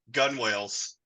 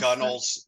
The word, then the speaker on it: gunwales: I got gun whales. Yes. Or gunnel is how you Yeah, pronounce gunnels. Gunwales. Yeah. I mean, I think that's wrong because you said gun whales before, If it's Exactly.